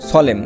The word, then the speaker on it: solemn: শব্দের শেষে এমএন থাকলে এন উচ্চারণ হয় না। যেমন দেখো SOLEMN, সলেম, দেখো SOLEM সলেম, এই পর্যন্ত কিন্তু হয়েছে এই সলেম, এন উচ্চারণ হয়নি।